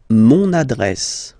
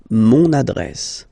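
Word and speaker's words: mon adresse: use adjective possessive masculine monad monad my address monad monad okay you can hear now this little link so you've got to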